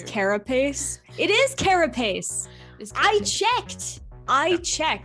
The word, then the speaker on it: carapace: what i can tell that's not technically correct i think it's carapace and that's how i'm saying it from now on because we goldie and